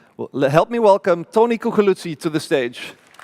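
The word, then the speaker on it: Coculuzzi: Well, help me welcome Tony Cuculuzzi to the stage.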